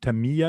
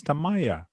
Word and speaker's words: Tamiya: It's not Tamiya, it's Tamaya.